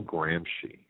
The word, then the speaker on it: Gramsci: The last name is spelled Gramsci.